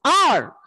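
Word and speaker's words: hour: a vowel sound when we pronounce the word, because here H is silent.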